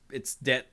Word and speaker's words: debt: So the word det. I know it's det and the B is silent, and I hate it, but what you gonna do?